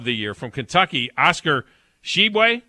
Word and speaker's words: Tshiebwe: The Player of the Year from Kentucky, Oscar Tshiebwe. Is that how you say it, Grizz? Tshiebwe. Yes. Oscar Tshiebwe is the Player of the Year out of Kentucky.